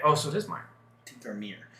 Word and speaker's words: Tinkermere: Tinkermere. It's still pronounced Mere.